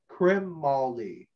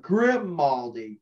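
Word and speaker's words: Grimaldi: ventana boy's neck and ross crimaldi crim molly okay not grim moldy crimp just so i get my pronunciation correct there right um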